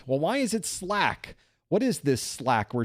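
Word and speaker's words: SLAAC: 47% of you, not quite a majority, say the answer is Slack. SL L AAC. That's how we pronounce SL AAC apparently, which is Slack.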